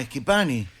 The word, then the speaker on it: Schipani: No, Schipani. Bueno, usted porque maneja bien el léxico, Porque soy Pettinati. Claro. Pues es italiano. la CH en italiano se pronuncia como una K.